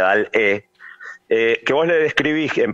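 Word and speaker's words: DALL-E: Tenés otra inteligencia artificial que se llama Dalí, como el pintor, pero en realidad con doble L, Y al final, Dalí, la pronunciación en inglés, si no sería Dal-E, que vos le describís en palabras cualquier imagen que querés.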